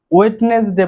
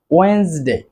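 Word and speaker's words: Wednesday: যেমন ওয়েন্সডে, ওয়েন্সডে বুধবার। আমরা অনেকে এটিকে ওয়েডনেসডে বলে থাকি, আসলে এখানে ডি এর উচ্চারণটি উজ্জ্ব থাকবে, সঠিক উচ্চারণ হবে ওয়েন্সডে।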